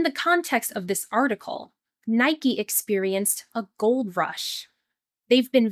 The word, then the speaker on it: Nike: Yes, in English, this brand is pronounced with two syllables, Nike.